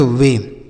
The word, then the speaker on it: weigh: वे। इसे वेट नहीं पढ़ेंगे, इसमें टी साइलेंट, टी नहीं है, तो हम मतलब इसे हम वे पढ़ेंगे, वेट नहीं।